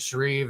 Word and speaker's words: Shreve: And is it Shreve, Ohio, or how you say it? Is that correct? Yep, the address is Shreve.